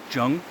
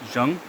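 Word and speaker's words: Jeon: His Korean name, I believe you pronounce it Jung. It's spelled J-E-O-N, but I believe the pronunciation is Jung.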